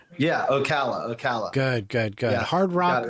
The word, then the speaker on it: Ocala: Yeah, Ocala.